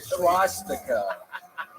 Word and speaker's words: swastika: there is no H in the beginning of that word. Seriously? But I swear to God, I think it made it like 8 times funnier. It really. Swastika.